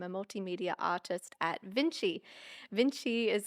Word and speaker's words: Vinci: Vinci is spelled cool. It's VNC CI, but it was pronounced after Leonardo da Vinci.